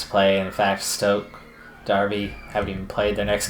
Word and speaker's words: Derby: little bit odd that Derby is pronounced Darby in America we refer to it